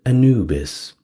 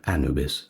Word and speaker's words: Anubis: Well, now with the big five out of the way, we get to Anubis or Anubis, however you want to pronounce it.